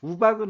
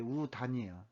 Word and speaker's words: 우단: 득효방은 새의 득효방의 줄임말이고, 의학정전은 이제 우단이라는 사람, 우박은 아니고, 이게 우단이에요. 그러니까 단이라고 읽어야 되고, 위영림이라는 사람이 새의 득효방을 썼고, 우단이라는 사람이 의학정전이라는 책을 썼어요.